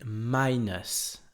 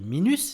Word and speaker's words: minus: mais ça se prononce minus comme si ça s'écrivait E-U-S si vous préférez, minus, avec l'accentuation qui se fait sur la première syllabe.